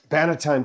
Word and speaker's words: Bannatyne: So, this this tour is the the the Banalities, am I pronouncing it correctly? Banalities? Banalities? Banalities tour, yeah.